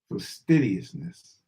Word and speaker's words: fastidiousness: dish man I'm saying it wrong faster ious fastidiousness mysteriousness for sidiousness f a s t i